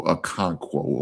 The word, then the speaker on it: Okonkwo: I think it's how he pronounce it. Oh, Okonkwo.